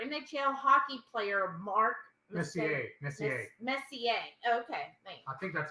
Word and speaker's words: Messier: Messier. Okay. Thanks. I think that's how you pronounce his name.